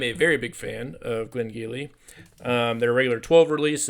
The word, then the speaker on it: Glen Garioch: So, today we're going to catapult over to the Highland region of Scotland for some Glengyle Virgin Oak. Now, it's not spelled like you think it is cuz it's Gaelic, but it looks like